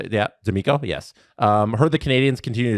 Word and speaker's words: D'Amico: D'Amico? Is that how you say it? Yeah, D'Amico, yes.